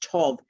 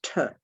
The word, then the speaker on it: Tau: t-a-u and tau pronounced tov is th yes but it can also be pronounced tur if it's at the beginning of a word that gets a bit